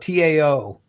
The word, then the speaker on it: Tao: i pronounced that one it's called the tao of the unbreakable man and it's spelled t.a.o if you're into eastern philosophy eastern mysticism you'll know what the tau is but if you're not you won't so it's tao the dao of the unbreakable man yeah it's